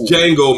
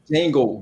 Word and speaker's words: Django: foxx right yes okay yeah the django it's django merv jingle not django it's jingle what the [ __